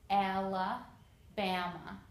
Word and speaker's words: Alabama: Here is Alabama. Again, four A's and they all make a sound. Alabama. So I put four for four syllables.